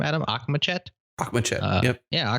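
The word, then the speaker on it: Akhmechet: Akhmachet, yep. Yeah, Akhmachet.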